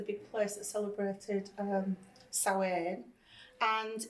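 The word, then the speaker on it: Samhain: But before that it was known as sain and that's a Celtic word. Um it can be a little bit difficult. It's written here and it's spelled s a m h a n and that's um a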